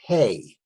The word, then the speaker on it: Hey: So the next letter is the letter Hey. H-E-Y or H-A-Y, whichever way you'd like to spell it, whichever way is easiest for you.